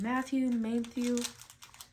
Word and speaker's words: Mathieu: Mathieu. I feel like there's an N. But there isn't in his name.